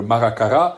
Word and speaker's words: Maracara: l'origine, qui s'appelle Maracara, avec l'accentuation sur la dernière syllabe, chose qui se fait rarement en Corse, en fait. On a tendance à laisser couler la dernière syllabe. Là, on accentue bien, c'est pas Arapa, c'est Arapa et Maracara, qui sont deux lieux